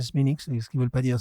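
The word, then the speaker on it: Smithwick's: Bon quand tu vois cette couleur kilkenisiano bowlingtonienne plus kilkenienne d'ailleurs également couleur oui ben couleur smix qui s'écrit Smithwick mais comme ils sont en Irlande ils disent Sminix est-ce qu'ils veulent pas dire Smithwick ?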